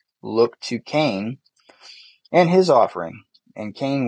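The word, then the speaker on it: Kayin: That's Cain and Abel, right? Yeah, it's spelled very differently here, so it's K-A-Y-I-N, so I guess it could be pronounced Cain, and a tiller of the ground.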